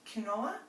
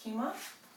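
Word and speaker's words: quinoa: get confused here it's felt or looks like kinoa but it's actually pronounced Kuma and some sweet potato it's not so much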